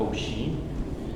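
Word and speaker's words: OHEA: company is ocean but it's spelled o H EA people call it oi um they do uh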